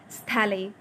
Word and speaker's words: Stahle: It looks as दो captain von स्थैले। अब यहाँ पर मुझे पता है कि ये STAHLE, इसका सजिस्ट प्रोनाउंसिएशन जो है वो ये है, स्थैले, ओके, क्योंकि मैंने चेकआउट किया है यूट्यूब पे।